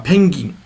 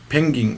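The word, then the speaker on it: ペンギン: the South Pole uh pening pening is how you say penguin and the Penguin is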